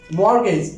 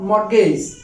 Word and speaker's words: mortgage: wait not quite the second one is mortgage mortgage not more case the third one is dead dead not debit